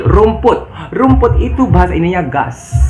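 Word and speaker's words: घास: Rumput itu bahasa Indianya gas. G-H-A-S. Bukan gas ya, bukan gas apa segala macam ya, tapi gas. G-H-A-S dibacanya gas.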